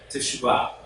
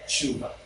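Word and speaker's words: תשובה: Now, actually, the pronunciation should be teshuvah. Teshuvah. Teshuvah. Now, Israelis will say it faster. They'll say shuvah.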